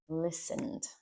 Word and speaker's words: listened: time next I listened that T there is silent it's not listen or listen or listened. It's listened.